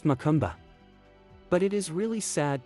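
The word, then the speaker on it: macumba: they call it makumba here pronounced makumba but it is really sad to see all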